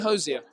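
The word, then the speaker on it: Hozier: to say his name right yeah I'm going hosia yeah yeah is this real name Andrew right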